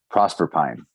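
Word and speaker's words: Proserpine: The romanization is pronounced with pine at the end. Prosper Pine.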